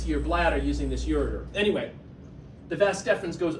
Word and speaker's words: ureter: You actually pronounce it wrong. Yeah, ureter. Is that what you're trying to say?